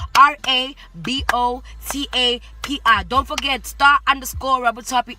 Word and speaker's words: Rabotapi: Please follow me on Instagram, Star_Rabotapi or Rabotapi, how they say it as black people. I wish I was white. Rabotapi. Don't forget Star_Rabotapi, Rabotapi.